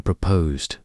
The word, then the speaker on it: proposed: When saying proposed, break it into two parts. Emphasize the second syllable posed to convey that it is an adjective describing an idea that has not yet been finalized.